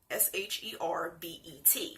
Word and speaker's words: sherbet: Without the extra R. S-H-E-R-B-E-T. Sherbet.